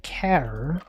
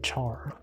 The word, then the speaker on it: char: one of my professors called it care as it's short for character. I think ever since then I say care instead of char.